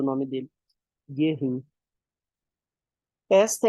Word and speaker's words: Göring: Göring, eu sempre pronuncio errado o nome dele. Göring.